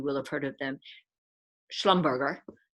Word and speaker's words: Schlumberger: have heard of them schlumberger to use the german pronunciation um based in vienna